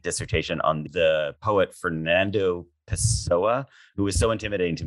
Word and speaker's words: Pessoa: on the poet Fernando Pessoa, who was so intimidating to me. I don't even know if I said his name right. Is that how you say it? Perfectly.